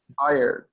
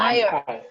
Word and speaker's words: hired: What is the pronunciation of this verb, guys? Hired. Everyone? Hired. Hired. With a D at the end.